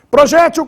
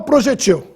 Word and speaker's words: projétil: usamos as duas indistintamente projétil com acento no é Ou projetil nesse caso a forma projétil com acento É a mais usada projetil oxiton talvez só na vida militar a maioria